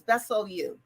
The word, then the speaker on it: Bessellieu: my first name is italian if if you pronounce it properly it's my middle name is my last name is bessel you i am fifth generation in in the united